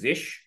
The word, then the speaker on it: zsh: There's a ZSH, which I think is pronounced Zish.